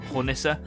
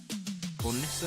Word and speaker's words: Hornisse: So yeah, in return, I made sure that I gave Stafford one of my, I hope I pronounced this right, Hornisse.